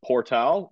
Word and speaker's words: Portal: his first name yep and portal it's spelled like portal p-o-r-t-a-l have you heard of